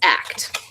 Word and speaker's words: Akt: Act pronounced act. Akt pronounced act was founded when we met performing eight shows a week in London's west end the land.